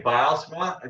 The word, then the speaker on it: Bylsma: You can say Bylsma, as long as you keep the S and not a Z. Like if we're going to be nitpicky, that's how they say it in the old country.